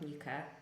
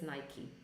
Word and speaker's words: Nike: not Nike but Nike or not definitely not Nika which I pronounce this as Nica as uh when I